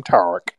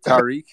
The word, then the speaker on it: Tariq: a real white man he pronounced my name tarak so what's going on how do you pronounce is it tariq tariq but the white version the white version is